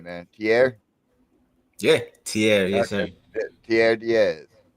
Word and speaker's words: Tierre: Now, correct me if I'm not pronouncing it right, man. Tierre. Yeah, Tierre, yes Okay.